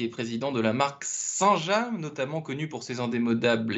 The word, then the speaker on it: Saint-James: Sénécal vous me confirmez qu'on dit saint-jam et pas Saint- gemes parce qu' il y a deux écoles j'ai jamais su laquelle était était la bonne non non on prononce saint-jam saint-jam est un village